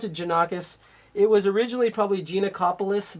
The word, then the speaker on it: Janakos: I pronounce it Janakos.